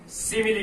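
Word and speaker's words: simile: अब नेक्स्ट जो फिगर है वो नेक्स्ट फिगर आपके आएगा सिमिली फिगर, और कई बच्चे इसको स्माइल बोलते हैं, स्माइल, जबकि स्माइल की स्पेलिंग क्या होती है, ये वाली। इसका मतलब क्या है, सिमिली।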